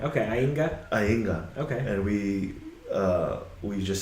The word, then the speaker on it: Aiga: So it's spelled AIGA. So some people have trouble pronouncing it. Yeah. So But it sounds like there's an ing sound in there, right? Right. Okay, Ainga.